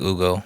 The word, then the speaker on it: Hugo: Do they not pronounce the H? I can't remember. Is it just Ugo? Yeah, it's more like Ugo.